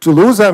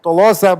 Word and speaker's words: Telosa: lose it's uh and i called it to loser maybe it's for me it's like french term i like it more than tolosa but you know probably everyone can choose their own pronunciation uh the idea behind